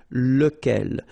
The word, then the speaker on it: lequel: So remember, you've got to pronounce it lequel. Even if you've got this QU, okay, remember that this U phonetically doesn't exist, so lequel.